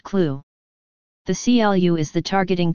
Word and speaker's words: CLU: commonly referred to as a CLU pronounced clue the CLU is the